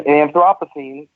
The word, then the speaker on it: Anthropocene: just making sure I say it right yeah Anthropocene the definition is related to noting the current